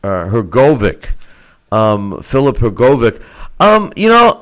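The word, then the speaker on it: Hrgović: go her go her go her go though her go Vic yeah her go Vic the the her is silent there's no II so just that he just they hadn't either there it's her Kovac you know but uh I don't I'm not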